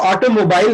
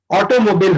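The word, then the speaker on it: automobile: सो इसका जो प्रोनाउंसिएशन होता है वो ऑटोमोबाइल नहीं होता है, ऑटोमोबिल होता है, ऑटोमोबिल, नॉट ऑटोमोबाइल। इसमें मोबाइल लिखा है बट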